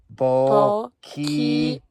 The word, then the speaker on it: Boquillas: And you want to pronounce it? Boquillas. Yes. Boquillas Canyon.